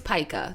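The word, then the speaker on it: pica: one see I don't even I think it's paa the word is pronounced paa okay it's spelled p i c a yes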